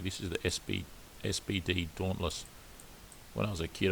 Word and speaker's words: Dauntless: is the sb spd dauntless when i was a kid i used to mispronounce this and call it a dunlees but it's a dauntless spd dawnless and this